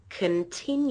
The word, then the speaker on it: continue: notice that it goes up on the second syllable I say continue continue you now the first and the last syllables